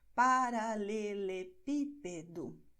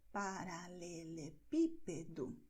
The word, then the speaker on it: Paralelepípedo: Por exemplo, aqui nós temos o acento bem bonitinho nessa sílaba pi, e é a sílaba que vai ser destacada. Paralelepípedo. Veja só, é assim como você vai pronunciar. Paralelepípedo.